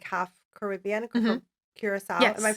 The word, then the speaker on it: Curaçao: from Curacao. Yes, Am I yes.